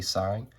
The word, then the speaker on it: sine: Even though it's, it's spelled sin, we say sine.